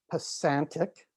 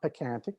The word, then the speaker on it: Pasantic: It's pronounced Pasantic, not Pacantic, Pasantic, risk management, and BC Kayak Center.